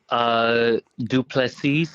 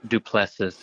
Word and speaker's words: DuPlessis: DuPlessis if you want to go French, or DuPlessis if you just want to do the English.